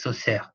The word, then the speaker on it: Saussure: Y recuerden, he estado mirando algunos videos y Saussure es un nombre francés. Entonces es Saussure. ¿Ok? La pronunciación del nombre.